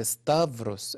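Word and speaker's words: ⲡⲓⲥⲧⲁⲩⲣⲟⲥ: كلمة دي سهلة خالص، بي اس تا، هنا الحرف ده يتنطق في وده ار، تبقى استافروس.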